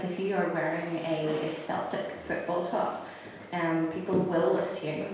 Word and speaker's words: Celtic: I have an Irishman telling me it's pronounced Celtic.